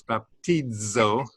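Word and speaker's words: βαπτίζω: a dz sound and the pronunciation splits the d and the z as if it's two different letters but it's just a single letter so it's baptizo but you pronounce it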